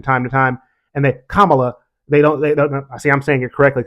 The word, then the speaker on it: Kamala: not Baka batuka Kamala say it with me everybody Kam whether you like her or not that's her name respect the human being and say her name correctly not camela not Cala is the biggest one her name is not Cala Harris Kamala and don't just